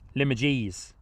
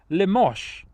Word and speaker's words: Limoges: coming in from a place name I cannot pronounce. Limoges.